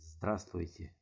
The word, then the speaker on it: Здравствуйте: Здравствуйте. Здравствуйте. This V sound is not pronounced.